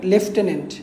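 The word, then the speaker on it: lieutenant: পিপড়ার হচ্ছে এন্ড হচ্ছে লাই ইউট এন্ড এইটার উচ্চারণ হচ্ছে আপনার লেফটেনেন্ট হ্যা তো এটা আসে পরীক্ষায় যে লেফটেনেন্টের স্পেলিং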